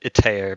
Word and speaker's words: Itar: But my question was to Itar. What is his name? Itar? I pronounce it Itair, but you can really say it if you like.